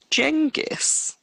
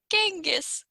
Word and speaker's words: Genghis: tangus jing is confucked jengus genghis khan it's a hard g this time can you make your